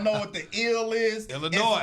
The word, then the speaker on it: Illinois: And if you don't know what the ill is, Illinois. It's Illinois. It ain't Illinois. It's Illinois. Everybody the have S is silent.